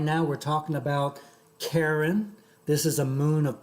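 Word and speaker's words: Charon: now we're talking about karen this is a moon of pluto it's about well yeah so it's c-h-a-r-o-n but it's pronounced karen all right and so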